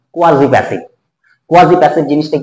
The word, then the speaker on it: quasi: কথাটা কি? কোয়াজি, প্রোনাউন্সিয়েশনটা ঠিক করতে হবে, নট কোয়াসি, কোয়াসি নয়, ভুল উচ্চারণ, কোয়াজি, কোয়াজি প্যাসিভ।